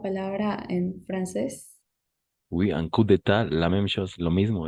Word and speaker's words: coup d'état: en francés que, si no estoy mal, se pronuncia coup d'état. coup d'état Très bien, y oui.